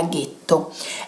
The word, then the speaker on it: ghetto: E poiché gli ebrei che vivevano a Venezia erano per lo più ashkenaziti e quindi non riuscivano a dire la G dolce, la parola getto nella loro pronuncia diventa ghetto.